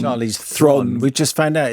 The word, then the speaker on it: Charlize Theron: I bet they would pronounce Charlize Theron's name... Thron. Charlize Theron.